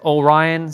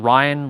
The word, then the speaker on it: Orion: And it's O Ryan, sister. Not Not Ryan, like the spelling Ryan.